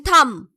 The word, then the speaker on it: thumb: Then thumb. B is the silent letter.